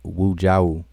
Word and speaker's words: Wujau: Again, my name is pronounced Wujau. And I noticed for a long time that a lot of people mispronounce my name.